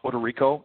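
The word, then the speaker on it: Odorico: It's uh pronounced Puerto Rico and it's O D O R I C O. Think of Puerto Rico. Take off the P. That's how it sounds.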